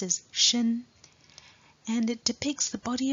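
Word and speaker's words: 身: establish to the right is a second character pronounced as shin and it depicts the body of a pregnant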